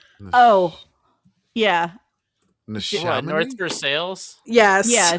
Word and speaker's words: North Versailles: There is a very like French named town in the vicinity of Pittsburgh that is not pronounced correctly. oh, yeah. What, North Versailles? Yes. Yeah, North Versailles.